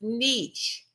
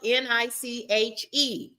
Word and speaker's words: niche: It is pronounced niche. Okay, but this is how it reads. This is how you spell it. It is spelled N I C H E.